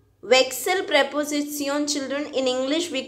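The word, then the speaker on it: Wechsel: children vic cell preposition the pronunciation of excel is like your english word i'm just talking about pronunciation wake cell this way you need to pronounce it vexil preposition children in english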